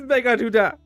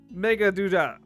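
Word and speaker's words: Meghaduta: I thought I was pronouncing it wrong this whole time, but it is Megaduda. It's such a weird name, though. Megaduda.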